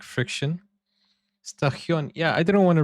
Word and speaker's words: station: And it's because when we have T-I-O-N combined in Swedish, then it becomes this sound.